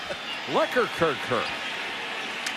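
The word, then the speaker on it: Lekkerkerker: the wrong guy because lekker kirker was not the guy that was holding who liquor kirker that's the way he pronounces his name the way he's called l-e-k k-e-r-k-e-r-k-e-r now they're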